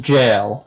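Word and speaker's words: gaol: know how to pronounce jail that is the uh british spelling of jail yes it's not pronounced any differently no it's pronounced jail yes is that where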